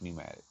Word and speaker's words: pneumatic: Uh PCP, if you're new to this, pre-charge pneumatic. Pneumatic is spelled with a P, it turns out.